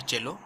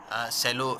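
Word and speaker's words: cello: देखिए ये जो वर्ड है इसका प्रोनाउंसिएशन होता है चेलो, ठीक है, सेलो लिखा हुआ है लेकिन आप इसको चेलो पढ़ेंगे, ठीक है।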